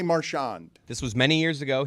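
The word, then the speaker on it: Marchand: It's become Marian. And I'm like, do I have this wrong? I assumed it was Marawn, but all these hockey guys are saying Marian. Give me that one more time, though, because it's is it Marshawn or Marshand? He puts the emphasis on the first syllable.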